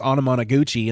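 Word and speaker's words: Anamanaguchi: did I was like, the band's name's hard to even spell, but it's pronounced Onomonoguchi.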